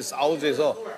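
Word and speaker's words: 臊子: 사우즈라는 발음을 잘해야 되는 게 아시겠지만 중국은 일성 이상 삼성 사상이 있는 사우즈에서 삼성으로 사우즈? 사우즈.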